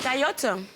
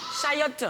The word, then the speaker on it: chayotte: Donc c'est caillotte. Je veux la bonne prononciation. Chatou? Moi, c'est pas. Chayotte. Bon point.